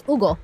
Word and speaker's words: Hugo: Yeah, because in Spanish, you would read that name as Hugo. That's it. You don't say H. You don't say the H.